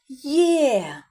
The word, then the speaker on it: Є: Но в цій літері два звуки: й е. А, вимовляємо є.